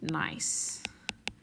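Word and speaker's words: gneiss: looks like it's spelled ganese but it's actually pronounced nice all right so that's some nice slate quartz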